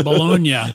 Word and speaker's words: bologna: is in europe no how do you how do you pronounce baloney that's bologna bologna okay there we go see